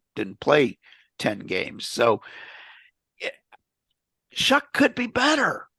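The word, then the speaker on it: Shough: And I I figured we would see the rookie Shuck is how they want to pronounce that, I guess. Tyler Shuck. Sh H O U G H Shuck.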